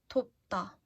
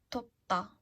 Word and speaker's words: 돕다: Let's try to pronounce them once more. 돕다. 돕다. Like 도와주세요. Please help me. 돕다. To be hot. 덥다. 덥다. 더워요. It's hot.